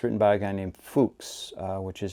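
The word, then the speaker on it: Fux: by a guy named Fuchs, which is mispronounced by many students, much to the chagrin of professors, but inspiring a lot of laughter. It's mispronounced as Fuchs. So it's actually pronounced Fuchs, The Steps to Parnassus.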